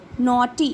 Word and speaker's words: naughty: Now here GH is silent. This A and U together say O. T. T. Naughty.